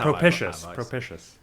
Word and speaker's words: propitious: I don't like that pronunciation because it's got pish in the middle of it. Sounds like Pish is not a good sound.